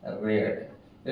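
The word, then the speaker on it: read: इसका जो है थर्ड फॉर्म क्या हो जाएगा, रेड। स्पेलिंग में कोई डिफरेंस नहीं, there is difference in pronunciation, इसे हम पढ़ेंगे रेड, because in the passive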